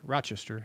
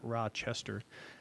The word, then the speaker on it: Rochester: that's by rochester and that's how you say it by the way it's rochester not rochester he says that's going